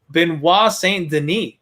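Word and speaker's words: Benoît Saint-Denis: a welterweight fight here and by the way i'm pretty proud of myself for the pronunciation on that when i listened to some uh some i i believe they were french uh commentators so i know that i'm saying it the right way and not just stumbling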